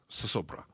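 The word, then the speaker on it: zozobra: in The Conversation about sosobra. And it's spelled with Z's, but kind of pronounced that S sound.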